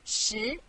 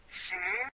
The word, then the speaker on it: 十: This is its syllable 十. Repeat after me 十. 十.